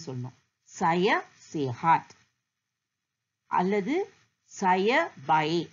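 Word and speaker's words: baik: சய சேஹாட் அல்லது சய பயே. அந்த கேயும் ப்ரொனவுன்ஸ் பண்ணக்கூடாது. பிஏஐ தான். சய பயே.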